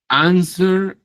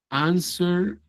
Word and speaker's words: answer: Answer. Answer. Responder. Answer. Escucho que hay personas que dicen answer. Answer no es answer. Answer. Y no suena la u.